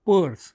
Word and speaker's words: Peirce: The another important theorization came from America in form of Charles Sanders Peirce, though it is written as P-I-E-R-C-E, pronounced as Peirce.